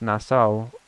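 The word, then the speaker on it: Nassau: a sparkle no luck bit R hold okay nasau is pronounced nasau ow ow nasau nasau thank you NASA is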